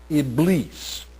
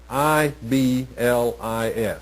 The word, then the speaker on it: Iblis: The name that is often used in the Quran and in Islamic thought is Iblis, I-B-L-I-S, Iblis. But they also use a term that, when pronounced in English, sounds very much like the word Satan.